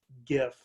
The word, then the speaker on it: GIF: And, of course, it's pronounced GIF. Because it stands for graphics interchange format with a soft G.